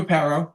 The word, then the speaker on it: Aparo: Yeah, Jim Aparo.